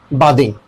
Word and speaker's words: bathing: बादिंग, आई एम बादिंग। No, pronunciation के language में ये बादिंग नहीं होगा, ये क्या हो जाएगा? बेदिंग, बेदिंग, BAI, बेदिंग, DING, दिंग, बेदिंग।